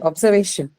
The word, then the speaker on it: observation: Okay, observation. Noun. Say penultimate syllable.